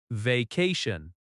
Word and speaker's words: vacation: Vacation. Vacation has stress on the second syllable. Va-ca-ce. That ca sound is strong.